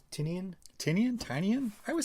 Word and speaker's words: Tynion: How do you pronounce it? Tinian? Tinian? I would say Tinian, James but...